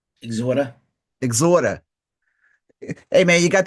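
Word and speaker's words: Exhorder: Nick, that actually it if you say it right, it's how like New Orleans people actually talk. They say exhorter. Exorter.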